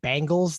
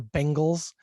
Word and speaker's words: Bengals: we have the bengals i was given some flack for occasionally pronouncing it bangles they are not the bangles they are the bengals uh let's make sure that that's clear the cincinnati bengals versus